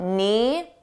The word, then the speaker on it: knee: reaction let's talk about knee notice the K is silent you don't hear it at all n KN this happens